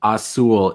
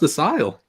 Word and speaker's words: Asyl: Central Scrutinizer says, isn't Asile pronounced Asul? It's been a long time since I spoke any German. No, it's pronounced Asile.